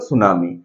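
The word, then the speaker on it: tsunami: है कैसे लिखते हैं टी एस यू एन ए एम आई है ना लिखा जाता है ट सुनामी पढ़ते हैं हम लोग सुनामी है ना इसमें दो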